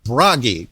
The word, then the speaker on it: Bragi: going to get mispronounced it subliminally rhymes with doggy at least for me like in some pronunciations of English it doesn't but for me it does um more importantly a